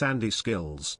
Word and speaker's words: Andy Skills: Hey fk, you for saying my name wrong again. It's Andy Skills.